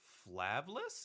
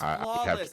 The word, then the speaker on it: Flawless: And for our Survivor Squad, we have Kieran, Dark, Flavless? Is that how you say it? Flavless? I think so. No, it's Flawless.